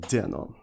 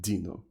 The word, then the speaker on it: Deno: about a thing called Deno, or Dino. I think it's supposed to be pronounced like Dino.